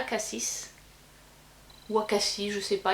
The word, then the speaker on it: Cassis: Donc ça, c'est des produits qui sont fabriqués à Cassis. Ou Acacie, je sais pas, il y en a qui prononcent le S, d'autres qui prononcent pas.